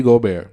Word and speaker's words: Gobert: Oh, Rudy Gobert, or Gobert if you want to pronounce it the way you want to pronounce it.